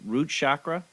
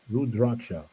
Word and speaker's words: rudraksha: rudraksha beads you know these are root chakra no no root i spell it for you r u d r a k s h a rudraksha rudraksha human body you know